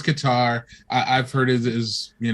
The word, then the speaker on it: Qatar: venues now and it probably is pronounced cutter cutter Qatar yeah yeah yeah I've always heard it this cutter I've heard his guitar I've heard his is